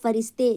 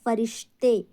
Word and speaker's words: فرشتے: رکھنا ہے، ٹھیک ہے۔ کوئی کہتا ہے فرشتے، جو کہ فرشتے غلط ہے، ہم نے بولنا ہے فرشتے وغیرہ سب فنا ہو